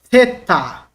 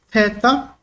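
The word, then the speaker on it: θήτα: escreve assim em português teta equivale no português th a trans interação como na palavra think a palavra thing Ok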